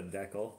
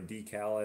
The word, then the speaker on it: decal: would spell it wrong this is a deckle or a decal as you guys would say as Americans would say well hot stuff I